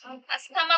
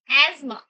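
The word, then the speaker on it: asthma: अस्थमा को क्या बोलते हैं सही प्रोनाउंसिएशन में? एजमा।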